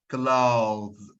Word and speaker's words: clothes: Clothes, clothes, clothes. So there is a slight movement between th and za. Clothes, clothes. اوكي في حركه بسيطه جدا ما بين التي اتش والزا لان مستحيل تلاقي التي اتش والزا ورا بعض مش هينفع. It's very short, but it's definitely there.